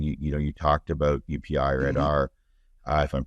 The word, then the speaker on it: Aadhaar: One of the things I would say that's unique, and you talked about UPI or Aadhaar, if I'm pronouncing that correctly, I never quite got it. Is it Aadhaar? Aadhaar, yes, Aadhaar.